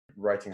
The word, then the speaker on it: writing: at the scripts and writing starts with a silent W and arithmetic starts with